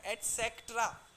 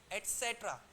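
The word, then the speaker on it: et cetera: आप क्या कर बोलिए इट्स नॉट एट सेक्ट्रा एट सेट्र स देयर इज अ स राइट एट सेट्र बोलो एक बार एट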